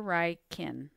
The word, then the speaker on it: Reichen: add word dr ryken's name is spelled differently than it sounds let's add his name to the vocabulary enter dr reichen in the written form field in the spoken form field enter how it's pronounced dr wright kin the word is added